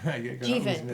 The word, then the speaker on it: Jivan: Jivan, right. You said it rhymes with Steven.